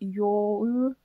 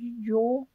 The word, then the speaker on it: Jouluyö: of you mentioned that the O is supposed to be pronounced like the Swedish O, which is an A with a little ring on top. So it's supposed to be Jouluyö, I suppose. Jouluyö.